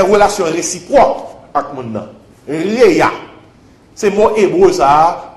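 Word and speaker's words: רֵעַ: Réa. Comme ça se prononce.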